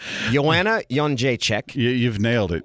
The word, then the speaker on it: Jędrzejczyk: But the card still, this card's so good, I think I've learned to pronounce a couple of fighters' last names. Joanna Jędrzejczyk.